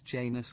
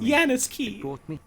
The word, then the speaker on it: Janus: destroyed but through its janus key the voice it's pronounced janice look at them